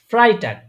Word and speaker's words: Freitag: দেখেন, দেখেন, এখানে এ আগে ই পরে, তাই না? Fry. ফ্রাই, হ্যাঁ, সঠিক। তাহলে এ আগে ই পরে, তখন আমার উচ্চারণ হয় কি? ই পরে। আই। হ্যাঁ, তাহলে ফ্রাইটাগ।